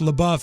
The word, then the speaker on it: LaBeouf: And LaBeouf is pronounced LaBeouf. It means in French, it means the beef.